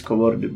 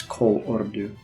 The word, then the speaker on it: Kolordu: to pronounce it properly, because it's easy to say it's Kolordu, but it's Kolordu.